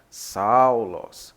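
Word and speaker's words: Σαῦλος: O alfa e o y se pronuncia de maneira aberta mesmo como o nosso português, como se fosse ao mesmo. Então fica Saulos. Saulos.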